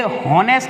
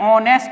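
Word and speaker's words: honest: ये हॉनेस्ट नहीं होता, एच साइलेंट होता है, ऑनेस्ट होता है, ओ, ऑनेस्ट, तो ओ स्वर हो गया, ये वॉल हो गया, तो क्या लगाओगे, एन।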